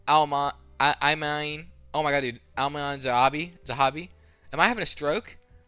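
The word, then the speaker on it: Aiemann Zahabi: Ayman Zahabi. Okay, thank you. Alright. I'm happy. Thank you. Anyway. Ayman Zahabi versus Marlon Chito Vera.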